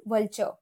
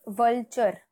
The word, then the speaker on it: vulture: there is a word vulture right so uh don't say it like vulture okay say Vulture keep the R silent and small.